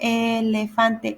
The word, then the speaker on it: elefante: Now see how PH is like with the sound. In Spanish, you just put the F. So elefante, elefante.